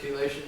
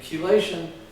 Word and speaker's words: chelation: And chelation means metal binding. And it's spelled C-H-E. It's a hard C-H-E, like chemistry.